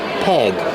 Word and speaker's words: peg: Use the short S sound like egg and head. Peg.